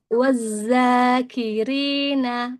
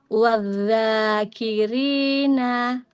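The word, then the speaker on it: وَالذَّاكِرِينَ: Ee yang ini biasanya sering terjadi kesalahan yang ee kebanyakan terjadi itu untuk dalal diganti zai ini jadinya wazzakirina untuk kayak gitu dalnya diganti zai dalam pengucapannya yang seharusnya wadzakirina.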